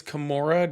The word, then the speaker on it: Kimura: So it says your name is Kimura. Am I pronouncing that correct? Yeah, with a K.